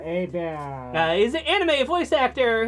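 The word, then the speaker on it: Hebert: Now, next, Kyle Airbear, or Kyle Herbert, as most people are probably familiar, but it's pronounced Abear. Abear.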